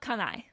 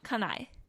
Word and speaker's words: Kanae: hers as well coo Kanai coo Kanai not K again English rules don't apply here because it's a Japanese name cool now you know